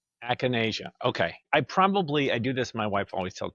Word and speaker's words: Acanasia: Now, I'd like to know if I'm pronouncing this the way you would pronounce it. Is it Asania?